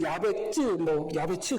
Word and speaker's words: 야베스: 그래서 원래 우리말로 하면 야베스, 그것을 우리는 야베츠 그렇게 발음해야 되는데 야베스를 원래 아차부라는 단어로 그대로 반영해서 이름을 지으면 어떻게 되냐면 야베스가 아니라 야세부가 되는 거예요.